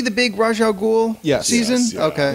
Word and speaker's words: Ra's al Ghul: Yeah, and then the actual man goes Ra's al Ghul. I'm like, yes, thank you, animated series. Yeah. That's how you say it.